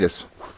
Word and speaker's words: Pilatus: But the bigger question I have for you is, and I want to make sure I was pronouncing his name right. Rob Pilatus? Is that right? Pilatus.